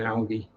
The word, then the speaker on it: algae: Other LFS is, what point did Americans start using the soft G in algae?